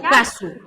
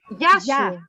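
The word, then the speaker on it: Γεια σου: Yasu ou Kasu? Yasu. Yasu. Yeah. Yasu. Yasu. So it means see you. See you, yes. Okay. Yasu. Goodbye. Vamos lá, vamos dizer Yasu.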